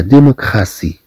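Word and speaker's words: démocratie: طبعا هناك حالات أخرى تعطي فيها الطي صوت اس، مثلا كما في كلمة لا ديموكراسي، الديمقراطية، لا ديموكراسي.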